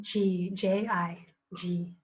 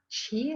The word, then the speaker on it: Chi: ty ty good and ji-ji-ji so it's actually not pronounced Chi like we think that she come this